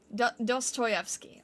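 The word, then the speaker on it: Dostoevsky: face in that piece dosstoyvski okay dosstoyvki Okay, thank you. It doesn't quite look how it's spelled. Dos choy.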